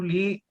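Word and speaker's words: Leigh: back to lee lee i think the correct pronunciation is lee yeah i'm from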